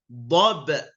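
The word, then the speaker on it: ضبحا: Maka bacanya wal adiyati dhabha, ya. Dhabha. Jadi apa namanya? Hilang satu fathahnya dan dibaca panjang.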